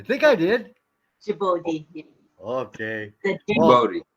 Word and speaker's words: Djibouti: Djibouti. J-sound. All right. J-sound for Djibouti. Good to see you, Patricia.